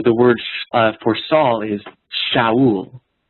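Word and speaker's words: שָׁאוּל: Well, in Hebrew, the word for Saul is Shaul. The word for grave is Sheol. Shaul, Sheol. And in Hebrew, it's spelled the exact same.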